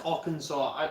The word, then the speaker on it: Arkansas: No, Arkansas. Oh, I'm guessing that's Arkansas.